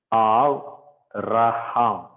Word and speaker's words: Avraham: Remember, if the Beit is, if only there is a dot inside, it is considered as Abraham. Otherwise, it is Avraham.